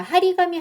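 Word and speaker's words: 貼り紙: 자주 가는 라면집도 해너 폐점에 하리가미 자 하리가미 하면은요. 하르가 붙이다라는 말이고 카미가 종인데요. 이렇게 하리하고 붙어 가지고 또 탁점이 붙여졌습니다. 탁점이 붙여지는 이유는 발음을 편하게 하기 위해서예요.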